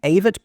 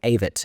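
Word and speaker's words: Avett: if I'm wrong the avit brothers I'd been saying the avit brothers because that's how it looks like it's pronounced uh but I heard someone say avit in the street uh with conviction in New York and so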